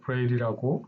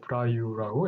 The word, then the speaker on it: Braille: 대부분 생소하게 느끼셨을 겁니다 영어식 발음으로 브레일이라고 보통 하는데 저는 프랑스식 발음을 좀 더 살려보려고 브라우라고 읽었습니다 이 단어에 대해서는 간단히